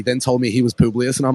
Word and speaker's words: Publius: I thought it was Publius, but he pronounces it Publius.